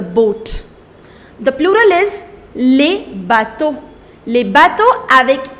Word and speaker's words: bateaux: However, this X is not pronounced. You do not pronounce that. The pronunciation of singular and plural, that remains same.